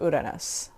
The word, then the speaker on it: Uranus: So I'm going to do at least the gray chunk to get to Uranus.